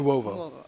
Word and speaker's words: Nuovo: My second question is about Dr. Nuovo. or Nuevo? How do you pronounce his name? Nuovo. Okay.